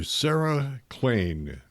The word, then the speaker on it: Klain: Sarah Klain, rhymes with Maine, is with us.